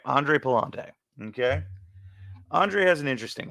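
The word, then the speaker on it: Andre Pallante: this I have to actually go for the pronunciation on him it's actually pretty sad for me but Andre Palante all right Andre Palante okay Andre has an interesting one here so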